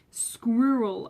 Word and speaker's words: squirrel: Squirrel. Okay, I can see why this one can be hard because that kind of squirrel sound could be a bit hard, but it's pronounced squirrel.